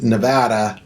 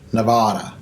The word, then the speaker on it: Nevada: to become a local do not pronounce nevada nevada at some point this will be like nails on a chalkboard for you too yeah stand out that you're not a local if you're pronouncing nevada wrong anyway back to our